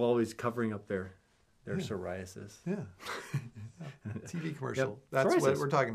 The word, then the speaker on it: psoriasis: what we're talking about psoriasis psoriasis spelled with a PF course yeah the PS I wouldn't use it depends on what you're peeing on I guess the P is silent oh why can't you